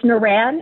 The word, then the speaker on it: Noorain: It's Naran. It's spelled Naran.